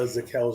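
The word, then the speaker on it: Zakelj: I think some people say they don't pronounce the J at the end of the name. Right. I would always say Zakel is the way I read it, but sounds like he's in contention now.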